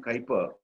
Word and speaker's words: Kuyper: If you were to Google Abraham Kuyper, Kuyper is spelt as K-U-Y-P-E-R.